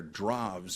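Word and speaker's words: Drews: Well, Arthur Droves, I think you say it. that's spelled dr ws, but I can never quite remember. I think it's drev or dra in Dutch.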